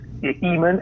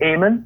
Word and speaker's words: Ehman: that don't actually know how to pronounce Ehman, and they'll go Eamon. Right.